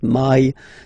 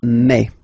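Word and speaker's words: mai: me me okay so don't pronounce e don't try to pronounce it no it's me me so it's not my it's me okay and then here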